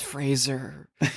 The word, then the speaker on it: Fraser: to be like guys it's Fraser please just like Razer go please if we